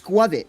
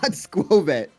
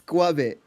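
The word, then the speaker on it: Skwovet: It's Squavit. Like Covet and Squirrel. It's Squit. It's not Squit. It's Squavit. Like Greedant and Oh, okay.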